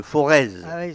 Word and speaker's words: Forez: auvergne on dit le forez parce qu'on les progrès gérance voilà les aides ne se prononcent pas quand on prononce non on ne prononce pas non plus le z c'est vrai mais metropcs